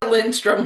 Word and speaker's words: Lindstrom: Lindstrom without a D. The D is silent.